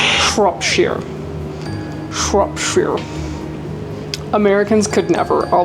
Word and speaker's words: Shropshire: Now this recipe is called soul cakes from Shropshire.